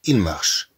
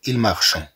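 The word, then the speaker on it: marchent: تي ولكن لا تنطق، نقول مثلا إيل مارش، إيل مارش، إيل مارش، إذن لا نقول إيل مارشون، إذن نقول إيل مارش.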